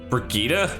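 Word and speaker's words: Brigitta: bita's innocent in this brigita that's how that's pronounced I've been saying Bretta forever you you're lying I'm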